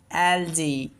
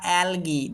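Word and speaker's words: algae: যেমন এলজি বা অ্যালগি দুইটাই উচ্চারণ করা যায়।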